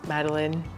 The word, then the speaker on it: Madeleine: Madeleine.